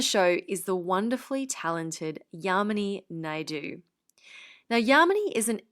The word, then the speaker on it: Yamini: And I remember when we first met, she said, "My name is Yamini, and the way you can remember that is it rhymes with harmony," which I loved.